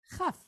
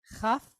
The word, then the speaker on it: Chaf: And so that's where we get this, the name for this letter is Chaf. But when it has the dot, it's Kaf. Hear the difference? Chaf versus Kaf.